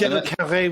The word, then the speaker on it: Michel Carré: Michel Carré was correct.